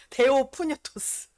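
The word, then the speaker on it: θεόπνευστος: 데오프뉴토스 발음으로는 그래.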